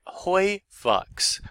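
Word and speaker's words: HOYVUX: And the magical phrase is hoi vux, hoi vux.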